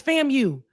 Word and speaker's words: FAMU: She keeps saying fam. She She separates when we say fam you. It's fam you.